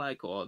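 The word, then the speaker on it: ichor: Jealous like a big magical I-core. That's pronounced I-core.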